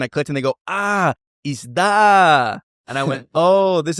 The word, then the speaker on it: isda: And so, for example, isda is fish, isda. And I can remember very clearly, I was with some Filipino friends and I put the stress on the first one. So I said, isda.